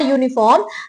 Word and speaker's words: uniform: यूनिफॉर्म begins with U, which is a vowel, but while pronouncing the word uniform, the sound of Y, which is a consonant.